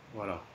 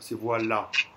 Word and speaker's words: voilà: Le A voilà. Est vraiment prononcé, il y a un accent sur le A, donc c'est vraiment A.